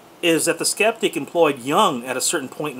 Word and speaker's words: Jung: layman's understanding of young by the way that's how we in america pronounce it uh to the skeptic i'm not sure you know uh if other countries pronounce it differently i've always heard it pronounced young not jung but you know maybe